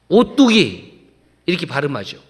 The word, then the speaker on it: 오뚝이: 중에 오뚜기가 있습니다 오뚜기 이것을 한글로 쓰면 5 뚝이 이렇게 쓰는데 발음을 할 때는 오뚜기 이렇게 발음하죠 그런데 그 뒤에 오뚜기가